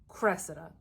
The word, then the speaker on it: Cressida: up and the internet is telling me it's pronounced Cressida and apparently she's a Trojan woman she's in